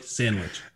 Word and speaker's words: Sandwich: Like sandwich. Just like you'd say sandwich, like peanut butter and jelly sandwich.